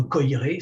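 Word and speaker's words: Koyré: Je vous recommande en particulier le livre d'Alexandre Coiré, ça s'écrit K-O-Y-R et accent aigu, Alexandre Coiré, le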